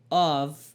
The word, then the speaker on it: of: Preste atenção aqui no of, é com som de V, esse of, e não F, porque OFF quer desligar ou desligado, esse sim quer dizer off, né?